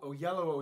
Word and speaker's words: Oyelowo: He's doing Othello with David Oyelowo, who played MLK. Oyelowo. Oyelowo is how you say his name.